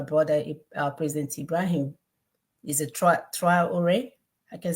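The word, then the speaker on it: Traoré: Is a Traore. I can say his name correctly, right? We can see how Yes. the, huh? Yeah. I can Ibrahim see, Traore, yes.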